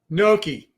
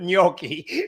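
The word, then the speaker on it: gnocchi: that word Noki okay so that's how I pronounce it but it although I've heard it nii too he puts the Y in there a little bit noi right so which I'm sure is probably correct like we were just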